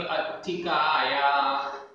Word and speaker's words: अत्थिकाया: ते चेव चेव अत्थिकाया। अत्थिकाया आधा त छोटी की मात्रा।